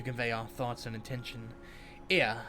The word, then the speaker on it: Ea: our thoughts and attention ear i believe was the pronunciation when you use when